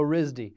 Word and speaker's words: RISD: It's pronounced as RISD. Okay. So RISD.